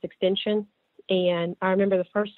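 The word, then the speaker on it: XXXTentacion: say about the rapper his name is it's pronounced extension and I remember the first time I heard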